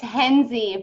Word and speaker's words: Henze: unmute yep henze people say Hennessy that's cool whatever you call me whatever okay say that again it's henze but you can people